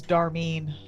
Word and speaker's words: Darmeen: My name's Darmeen. Darmeen. Darmeen. How do you spell that?